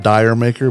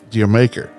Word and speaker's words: Jamaica: It's everybody wants to call it Dire Maker, but it's actually pronounced Jamaica. It's actually Jamaica.